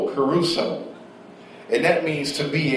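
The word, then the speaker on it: kerusso: Now the word preaching, it means caruso, which is spelled K-E-R-U-S-S-O, caruso.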